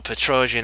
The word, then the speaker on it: Petrosian: cool thing about Petrosian now there we go Petrosian I said it right finally I got it